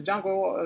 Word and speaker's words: Django: Yeah, it's spelled DJM. Django.